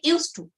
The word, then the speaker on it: used to: how to pronounce it the sound at the end of the word used sounds like T okay not say used